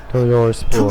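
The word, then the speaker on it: Toujours pur: Toujours pour.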